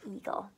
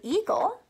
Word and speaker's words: eagle: When two vowels go walking, the first one does the talking, which is why EA says E as in eagle. And actually the word eagle is spelt like this.